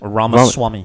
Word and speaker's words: Ramaswamy: Ramaswamy.